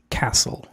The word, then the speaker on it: castle: Yo pensé que se pronunciaba castle, pero la la T no suena. Es castle.